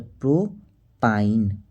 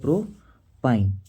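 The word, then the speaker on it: प्रोपाइन: इसमें आता आइन तो प्रो पाइन बस हमको उच्चारण पकड़ना है ये हो गया प्रो पाइन ठीक आप गौर कीजिए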